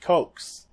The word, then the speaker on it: Coxe: Here's another founding father, Tench Coxe. I think that's how you pronounce his last name, C-O-X-E. Anyway, he was a Pennsylvania delegate for the Continental Congress, and he says, "Who are the militia?